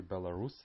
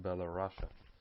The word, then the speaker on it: Belarus: call them belarusians but they call their country belarus and not below russia concerning the ethnicities in